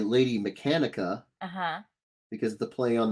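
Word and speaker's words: Mechanika: uh mechanica and he he said the mechanica mechanica yeah mechanica that's what he said so i'm assuming it's the right way to say it benitez joe benitez she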